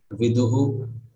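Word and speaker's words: विदुः: So it should become viduhu.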